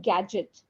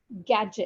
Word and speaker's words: gadget: and then the word gadget gadget gadget yeah Gadget yeah g a d g e t d is silent Gadget okay Gadget H